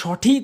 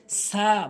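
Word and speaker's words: ث: উচ্চারণ করতে হয় তা সা ভুল উচ্চারণ ছা ভুল উচ্চারণ এর সঠিক উচ্চারণ হচ্ছে সা অর্থাৎ জিহ্বার আগাটা সামনে দুটি দাঁতের আঘাতে লাগাবেন ভালো করে বুঝবেন কথাটি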